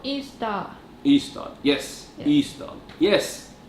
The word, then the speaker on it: Ystad: A place in Sweden called Ystad. Ystad, yes. Ystad, yes. Ystad.